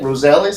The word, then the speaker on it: Rosales: Rosales?